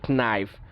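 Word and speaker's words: knife: করতে দেখেন কষ্ট হচ্ছে, নাইফ। সো আমরা এখানে কী করছি, খটাকে আমরা বাদ দিয়ে দিচ্ছি, নাইফ।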